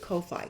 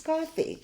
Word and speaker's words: Ko-fi: So everybody pronounces it Ko-Fi, K-O-F-I. But, you know, coffee shop, it's coffee, right?